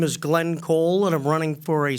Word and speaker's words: Cole: Glenn, is it pronounced Cool or Cole, Glenn? Cole. Thank you very much.